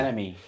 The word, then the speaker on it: NME: Is that how you say it? NME, yeah. Yeah. Enemy.